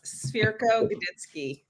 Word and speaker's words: Cwirko-Godycki: I am joined here today by Mike Swire and Workco Godki. Now, did I pronounce that right? Close. Very close. Sphero Gitzki.